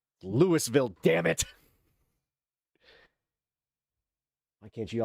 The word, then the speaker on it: Louisville: Louisville. It's like what the ul like Lewisville.